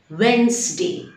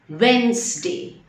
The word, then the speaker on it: Wednesday: the correct pronunciation it's Wednesday the D is silent Wednesday and meet you on